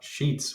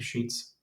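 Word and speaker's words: Sheetz: I think was the official first name, but then I think they just changed it to Sheets. It's spelled like bed sheet, but like with a Z.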